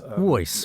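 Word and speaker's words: Wooyce: personality to the essence this app is called voice which is spelled w-o-o-y-c-e if you'd like to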